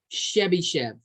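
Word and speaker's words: Chebyshev: write it down that's the guy's name it's pronounced chevy chev we use chevy chev's inequality and chebychev's inequality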